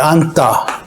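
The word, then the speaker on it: 앉다: 지읒은 탈락하고 니은으로 발음한다. 안따 하잖아요. 요거는 어떻게 발음하냐면, 안따. 이렇게 뒤에 오는 예사 소리를 쌍디귿, 된소리로 발음한다.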